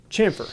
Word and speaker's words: chamfer: What's a camphor? Am I even saying it right? Chamfer. Chamfer. See, I'm not even saying it.